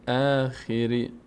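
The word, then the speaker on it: الآخر: مل خری ویوم الاخری این خ خ یه کسره داره خ خ خی نشه خی نشه چون ب از کسر یا نیومده که خی خی خی بشه خری بعضی میگن خری خی خیش میکنن ا نه وخر وخر وخر ویوم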